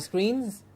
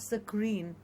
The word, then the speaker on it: screen: We'll scroll down on the and computer not screens. And scroll. yes, Yeah. absolutely. And also another very commonly mispronounced we said not screen Yes. but screen.